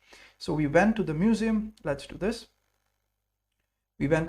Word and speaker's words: Museum: d Museum perfect so the museum is pronounced a little different and written a different little differently in English it's e m in in German it's u a m m so it's Museum yes museum so we